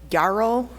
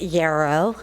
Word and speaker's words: Yarrow: next speaker is Garrow if you could correct my pronunciation it's euro it's a it's an indigenous wild water yellow flower so to the northwest area of the United States my name is